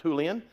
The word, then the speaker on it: Julian: Julian, it's spelled Julian, okay, but it's pronounced Julian.